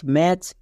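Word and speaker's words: match: রেড কালারের লেখা হয়েছে কেন কারণ সাইলেন্ট লেটার উচ্চারণ হবে না next M এ টি সি এইচ ম্যাচ বি এ টি সি এইচ ব্যাচ এখানে দেখো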